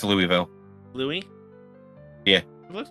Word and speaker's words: Louisville: Lewisville. It's Louisville. Louisie. Yeah, it looks like Louis. It's It's spelled that way, but it is pronounced as Louisville.